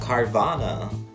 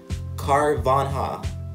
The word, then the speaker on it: Carvanha: We got Carvana. No, Carvanha. Yeah, Carvanha. Emolaga. Sorry again if I'm mispronouncing their names wrong.